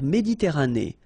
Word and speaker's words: Méditerranée: La mer Méditerranée. Okay, here final E not pronounced, but then you pronounce this E at the end.